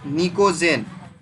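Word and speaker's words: pnictogen: ठीक है, this group is also known as निकोजेन, PNICOGEN। इस ग्रुप को क्या कहते हैं बताओ रे? निकोजेन। इसको पी साइलेंट है यहाँ पे।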